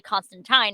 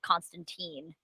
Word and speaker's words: Constantine: Okay, because the fun fact, the actual comic book character Constantine is actually Constantine, not Constantine. Love fun facts. That sounds wrong. No, it's actually in the comics of how to pronounce his name. It's Constantine.